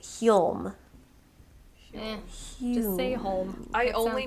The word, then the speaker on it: Hulme: can't pronounce anything correct is h-u-l-m-e so holmes probably there's os there's no s but holm interesting okay or as one girl on youtube called it hume just stay home i